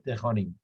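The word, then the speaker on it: טחורים: Que los hizo sufrir con acá dice, hay una palabra que se escribe Apolim, va Apolim y se lee Tejorim.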